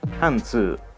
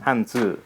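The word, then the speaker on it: 汉字: : « kanji » Vous pouvez voir que la prononciation était à la base « hànzì », mais a divergé et est devenue différente en coréen et en japonais, même s'il s'agit de ces mêmes deux caractères.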